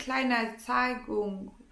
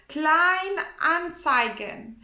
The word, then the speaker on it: Kleinanzeigen: There is eBay Kleinanzeigung. I don't think I pronounced it right, this app. It's like an app of eBay for the used things, kind of. Kleinanzeigen.